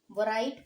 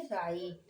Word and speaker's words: write: Okay, यहाँ पे W silent है। उसी प्रकार क्या हम WRITE वराइट पढ़ेंगे? नहीं, इसे हम पढ़ेंगे राइट।